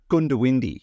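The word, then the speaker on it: Goondiwindi: Gundawindi. Oh, yeah. Although you're supposed to pronounce it Gundawindi, but half the people say Gundawindi because it's spelled G-O-O-N, but people just call it Gundy.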